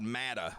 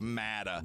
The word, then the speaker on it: Matta: Matta. It's spelled M-A-T-T-A. I didn't want to say matter for some reason, and I made up Matta, and it fit the purpose too.